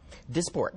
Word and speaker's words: Dysport: And it's called, it's called, and I don't want to mispronounce this, Dysport? Dysport.